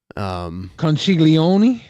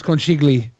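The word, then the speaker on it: Conchiglie: Conchiglione? Something like that. That might be right. That sounds about right. It's not Conchiglione. It's not Oni though, because it's Lie.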